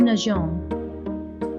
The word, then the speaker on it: nageons: To remedy this, French adds a little EA to the letter G to remind us to pronounce the hard G as a soft J. In French, we have now nous nageons.